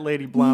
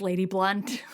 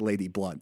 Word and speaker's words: Lady Blount: an amazing book what I'm smoking on that lady blown no no no okay you'll love this because it's actually pronounced lady blunt no I I I really because I deliberately